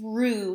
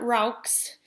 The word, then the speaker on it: roux: to know a roux this is rue not rocks it's rue the x is silent on the end it's a french word it's rue so a